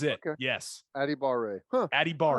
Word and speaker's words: Adebawore: I didn't really pay that much attention, but this is what the pronunciation guide said for his brother. Adebawore.